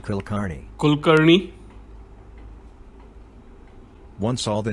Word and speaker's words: Kulkarni: Repeat the process for the name Kulkarni.